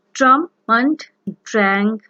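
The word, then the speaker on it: Sturm und Drang: For example, the epic theater, the Holocaust, the faith theater, and Strum and Drang philosophy. And here I'm going to discuss Strum and Drang philosophy. The exact pronunciation is Strum und Drang philosophy.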